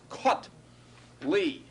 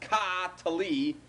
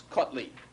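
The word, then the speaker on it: קָטְלִי: This is kotli. 2 syllables, closed syllable, silent schwa, short vowel, comets katuv. It's not ka-tali, it's kotli.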